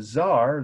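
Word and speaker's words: czar: in the countryside now the Zar that's spelled if you care to know the spelling I want you to it it's not on S is CZ R you know that means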